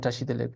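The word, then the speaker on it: བཀྲ་ཤིས་བདེ་ལེགས: And tashi delek is spelled with a ka. So this is the example for the rule. The reason we pronounce it tashi delek is because of this rule here.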